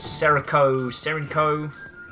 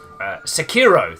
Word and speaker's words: Sekiro: And some people theorize the new title they've got coming out, which is I can't pronounce it. The ninja dude with the transforming arm is Serenko. Sekiro.